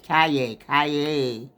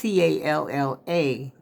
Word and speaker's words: Calla: I was pronouncing it like it was Spanish. Calle. But it's Calla, lily.